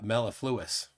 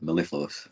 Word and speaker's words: mellifluous: no he says it's Mella flewis may have pronounced that wrong let me pay a more close close attention to the letters in the word yeah mellifluous Melissa Lewis there you